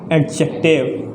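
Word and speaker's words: adjective: एडजेक्टिव। क्या बोलते हैं? एडजेक्टिव। इसमें डी साइलेंट रहता है। क्या रहता है? डी साइलेंट रहता है, एडजेक्टिव।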